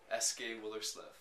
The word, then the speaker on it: Eske Willerslev: Eske Willerslev. Okay, Eske. Yeah, Eski.